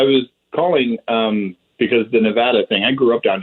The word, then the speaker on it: Nevada: up down here and i always said nevada and i moved out to california lived there for about 10 years and spent a lot of time in nevada yep and it is nevada that's how they say it there is okay right